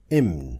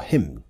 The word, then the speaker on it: Hymn: Divine Hymn, or Hymn, not Hymn. Come on. It's a French word, so my brain went to the French variation of it, because the French do not pronounce the H.